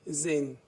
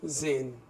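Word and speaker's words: zehn: एंड 10 इज जेन. जब अभी बताया मैंने जेड के साथ जब वॉवल आएगा तो उसे हम पढ़ेंगे जो, तो जेन.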